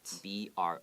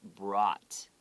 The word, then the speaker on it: brought: B-R-O-U-G-H-T. Pronounce brought. Okay, 不是 brought. Okay, 因为它 o 很多人会讲 brought 是 brought 有点 ah 的声音。I brought them into the house.